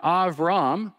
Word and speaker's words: Avram: The word Avram, that's the way the Hebrew's pronunciation of his first name, Avram means exalted father.